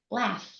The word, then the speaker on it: laugh: A great example is the word laugh, Laugh. which Oh, I pronounce like Laff.